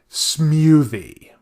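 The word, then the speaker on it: Smewthie: a full j-pop act alongside the show called smoothie if you're picking up the video here because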